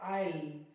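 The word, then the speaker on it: aisle: देखिए ये रहा एल, उससे पहले आया एस, साइलेंट कर दो, इसको पढ़ेंगे आइल।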